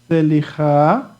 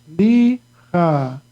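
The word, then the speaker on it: סליחה: And right here, there's a rule that the Sheva at the beginning sounds like I can say Selicha. But because I know the word already, I know this the rule for the Sheba here is going to be silent. So it's going to be S-L-E, okay? Slicha. Slicha. And of course, at the end, the He is going to be silent, only Ha sound, okay?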